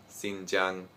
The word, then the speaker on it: Xinjiang: of course i was thinking well i heard xinjiang and this looks like xinjiang and it's not